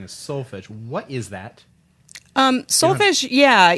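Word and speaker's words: solfège: If we were in Italy, we might say solfeggio. The tradition that I used through the Kodály methodology, I typically will use the term solfa. So solfege is, go back to go back to The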